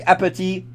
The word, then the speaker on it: appétit: In fact, funny fact, if you want to say appétit in French correctly, do not pronounce the T at the end. Pretend it doesn't exist, and it's like bon appétit.